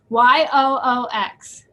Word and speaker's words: YOOX: And I always mispronounce it. Kelly always corrects me because I'm ready. Ready? Correct me. YOOX. Oh, Ukes Net-a-Porter.